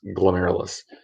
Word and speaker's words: glomerulus: It's pronounced glomerulus.